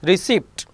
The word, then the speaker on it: receipt: Receipt, P silent over here.